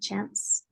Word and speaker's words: chance: I think the word chance with the ending S sound. Make sure there's the S sound at the end, chance.